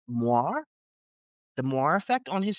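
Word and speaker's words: moiré: It's moire.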